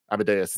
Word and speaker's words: Amadeus: the runaways lonnie lincoln amadius cho harry osborne and more except before captain america civil war amadeus is how you say it yeah yeah i'm at